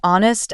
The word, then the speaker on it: honest: common silent letter is the silent h in words like honest and hour the H is silent he's an honest person